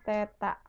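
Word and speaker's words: θ: lho Bu nol setrip ini bukan nol setrip tapi dibacanya Teta jadi percepatan = G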